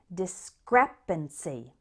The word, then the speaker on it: discrepancy: in may it's discrepancy this word has four syllables with the stress on the second one discrepancy discrepancy a discrepancy is